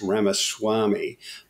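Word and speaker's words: Ramaswamy: uh what's his name Vivek I'm told is pronounced Rama Swami and he's a very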